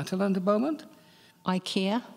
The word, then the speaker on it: IKEA: to land a moment Ikea yes or Ikea as the ads tell us to pronounce it now that's the one